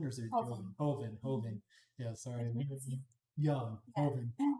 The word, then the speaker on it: Joven: And it was from the Joven region, or Hoven, or is it Hoven. Joven? Hoven.